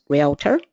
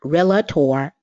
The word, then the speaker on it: realtor: And here I state, realtor is pronounced realtor, not realtor.